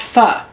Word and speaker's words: pho: So, for instance, I have recently discovered that I'm going to mispronounce it because it looks like the word pho, but everybody says it's pronounced pho.